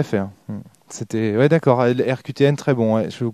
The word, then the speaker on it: RQTN: Donc ça s'écrit RQTN, comme les lettres.